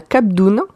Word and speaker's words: Cap d'Ona: Alors, cette bière s'appelle la Cap d'Oune. Et ça s'écrit donc cap comme un cap dans la mer.